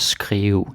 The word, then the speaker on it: skrive: Skrive og skrive. Usually we pronounce it skrive.